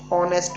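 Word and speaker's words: honest: ही इज a dash ऑनेस्ट मैन, ओ, तो ओ से आवाज निकल रही है, एच की नहीं आती है, एच साइलेंट होता है, तो ओ क्या हो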